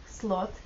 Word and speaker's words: slot: Что означает безнравственная женщина британцы тко произносят букву о в данном случае звук похож на русский о о Слот конфуз возможен в американском варианте так как звук о произносится протяжно и близок Произнесите о и широко Откройте при этом рот с сравним с безнравственно женщиной гласный звук короткий и рот лишь немного приоткрыт Слот SL Слот разница